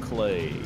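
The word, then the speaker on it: Klei: spelled it cly and now they're like it's pronounced clay yeah I've got another but love for my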